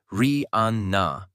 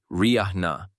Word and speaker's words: Rihanna: the correct pronunciation is ria with the emphasis on the first syllable. Still, much of the world, including media outlets and award shows, have continued to say Riya.